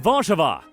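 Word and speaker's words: Warszawa: largest city is warsa which in Polish is pronounced vva the city is a population of around 1.7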